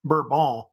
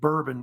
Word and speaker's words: Bourbon: However, if you know about it, the French don't pronounce it that way. They say it Bourbon, by the way. But the United States, they start saying Bourbon because of Bourbon County, which is up in Kentucky, where they started making bourbon whiskey.